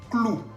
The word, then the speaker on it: clou: Otro ejemplo que sigue, clou. Clou. Se escribe con la O-U al final, que tiene sonido U. Entonces, leyendo todos juntos, vamos a decir clou.